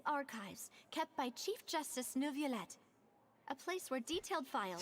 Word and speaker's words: Neuvillette: So Neuvillette maintains an archive of... Paimon! There's no R in there. The French don't pronounce the letter R.